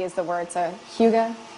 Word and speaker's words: hygge: of videos trying to figure out how to pronounce @h y GG e is the word so Hyuga it's kind of how I've been embracing it